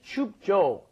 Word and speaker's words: 춥죠: So The thing you need to be careful of is that when you're pronouncing jo, it's not just 춥죠. Yeah, 춥죠. Doesn't really work that way. Normally when Koreans say it, it's kind of a hard J, as we've explained before.